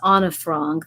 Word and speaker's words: Anne Frank: She was known as Anna Frank. That was the pronunciation.